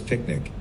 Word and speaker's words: PQNK: PQNK, to be pronounced as picnic, stands for Paedar Qudratti Nizam Kashatqari, which means Sustainable Natural Farming System.